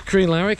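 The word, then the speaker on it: Crianlarich: captain will confirm is K laric that's how you pronounce it to bridg of Ori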